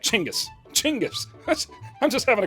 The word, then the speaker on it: Chingis: First, it's funner to say Chingis. Chingis. I'm just having a great time. Second, Gingis is the westernized version of his name, and Chingis is closer to how it would be pronounced in Mongolian.